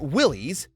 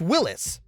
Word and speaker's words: Willys: It's not Willies, it's Willis. That's how its founder, John North Willis, pronounced it.